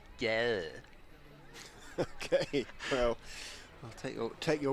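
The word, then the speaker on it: gade: have some, for example, the word for street is spelt G-A-D-E, so you'd think that's pretty straightforward, and I think it's pronounced something like yeah.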